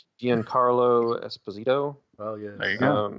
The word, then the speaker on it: Giancarlo Esposito: No clue how to pronounce this guy's name. Giancarlo Esposito. Oh yeah, there you go. Juan Carlo Esposito.